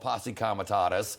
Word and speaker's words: Posse Comitatus: That's different than the National Guard and could involve Posse Comitatus.